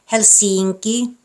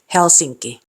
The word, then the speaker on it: Helsinki: And lastly, the stress is on the first syllable, meaning these words aren't pronounced Helsinki, tavara, kirjoita. Should be Helsinki, tavara, kirjoittaa.